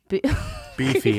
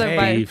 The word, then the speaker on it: Beefy: Beefy, it's pronounced Beefy.